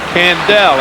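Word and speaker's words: Candaele: Candell. It's pronounced as though it were.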